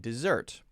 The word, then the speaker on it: dessert: Well, I think you can hear, first, there's a stress difference. If I say usually a two-syllable noun or adjective, then I will usually, not always, usually stress syllable 1. Object, object. Present, present. Right? Desert, dessert.